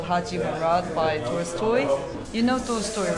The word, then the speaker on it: Tolstoy: I like, no, Tolstoy. And she's like, oh, Toy Story. You know, you say Toy Story. I was like, no, Tolstoy. And she's like, no, no, no, that's not how you say it. It's Toy Story. Like, T-O-L-S-T-O-I, Tolstoy. Tolstoy.